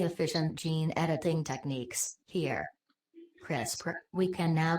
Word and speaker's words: CRISPR: regularly interspaced short palindromic repeats crisper pronounced crisper broke erotic DNA containing